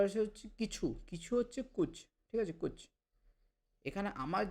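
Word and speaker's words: कुछ: আপনি কুচ কুচ এরকম টেনে বলবে না। কুচ কই? ভাওয়েল সাউন্ডগুলো ছোট ছোট হবে।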